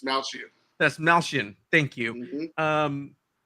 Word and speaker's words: Dastmalchian: I always forget how to David pronounce. Dastmalchian.